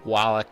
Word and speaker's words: Wallach: to do that with me it is wallach uh senior editor over at beth sided find